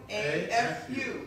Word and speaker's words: Tukuafu: just like it's spelled, Perfect. Tukuafu.